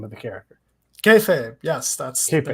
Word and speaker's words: Kayfabe: Kayfabe, yes, that's Kayfabe, the name of the book.